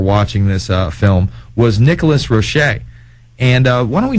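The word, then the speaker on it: Nicholas Roerich: time and why he is important uh well Nicholas roric that's that's apparently the way the name is pronounced um and I learned that by going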